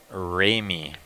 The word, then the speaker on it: Ramey: Ray, it's actually Joshua Ramey, which is spelled R-A-M-E-Y.